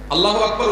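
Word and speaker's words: الله أكبر: আল্লাহু আকবার উচ্চারণ করার সময় আকবরের রাকে টেনে পড়া ঠিক হবে কিনা? না, ঠিক হবে কেন? তাকবীরের সাথে বলতে হবে আল্লাহু আকবার, আল্লাহু আকবার, এরকম বলা যাবে না।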